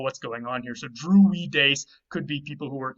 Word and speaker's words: Druides: In Gaulish, the Druides, and you can see the weed in there when you say it like that, Druides.